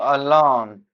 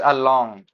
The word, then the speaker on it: alone: So alone. This is along. Along. And what we want to say is alone. Alone. Alone. Alone. Right.